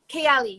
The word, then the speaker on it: Kayali: Kayali? Kayali, yes, that's perfect. Kayali.